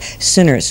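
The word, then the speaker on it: Synners: But my second novel, Sinners, which is spelled S-Y-N-N-E-R-S, now, there was one time I was on this panel with John Brunner, and he asked me the name of my book, and I said, Sinners, with a Y.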